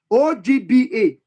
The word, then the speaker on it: Ogba: So the real pronunciation is OGBA.